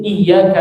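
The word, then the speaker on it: إِيَّاكَ: Maliki yaumiddin, iyyaka na'budu. Iya. Jangan baca i. Iya. Tapi enggak terlalu kuat juga. Iya, begitu. Iya. Ada tasdid di situ ya. Iya. Iya-nya tipis ya.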